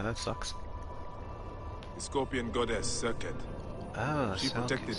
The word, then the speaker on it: Serket: Serket is the Egyptological pronunciation, so it's spelled in hieroglyphs like S-R-Q-T.